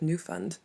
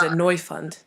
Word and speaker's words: Neufund: is it yeah it's annoy fund annoy you find annoys fun so yeah exactly so we like that we like the kind of German twist on the pronunciation mr.